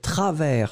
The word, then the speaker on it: travers: Ensuite, travers, souvenez-vous, S final qui n'est pas prononcé, T-R-A-V-E-R-S.